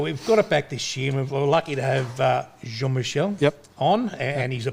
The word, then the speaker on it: Jean-Michel: back this year we're lucky to have uh jean michel yep on and he's a passionate guy about